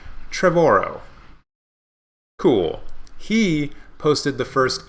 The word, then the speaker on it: Trevorrow: from Colin Trevorrow who I always have to pause when I pronounce his name because I want to call him Colin Trevon al which is obviously not how it's pronounced but yeah Colin Trevorrow cool he posted the